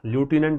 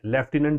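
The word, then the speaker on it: lieutenant: लेफ्टिनेंट लूटिनेंट। लूटिनेंट American में। लेफ्टिनेंट British में spelling याद करने का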